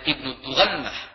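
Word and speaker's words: ابن الدغنة: Sesampainya di Barkul Ghimad, tokoh pemimpin dan penguasa daerah tersebut yang bernama Ibnu Dughnah, ada yang membacanya dengan Ibnu Dughannah, Ibnu Dughnah kaget dan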